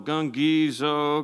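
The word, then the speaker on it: γογγύζω: doing in the Bible the word grumble in the Greek is an onomatopoeia it sounds like the thing you're doing I love this word so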